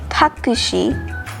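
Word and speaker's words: タクシー: take a taxi to the hotel you say takushi and hotel now you might also if you want to say it simply you could just say takushi i they might pretty much understand that unless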